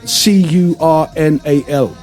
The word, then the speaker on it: colonel: You know, Colonel, I was Curnal. I'd spell it Kernal.